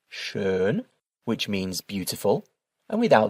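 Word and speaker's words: schön: So with the umlout the word is pronounced shern which means beautiful and without the um that word is pronounced sha which means already.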